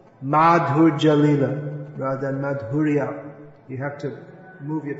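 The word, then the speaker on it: माधुर्य: Madhurja Lila rather than Madhurya. You have to move your tongue a bit more to say Madhurya. You say Madhurja, it all merge. The R and the J merge.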